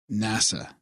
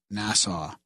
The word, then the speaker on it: NASA: for correcting Graham's pronunciation Graham it's NASA not nassau and you know what